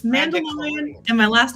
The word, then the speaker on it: Mandalorian: and then uh mandeckelorian did i say it right close close enough yeah how do you say it how do i say it it's uh mandichlorian it's mandalorian and my last name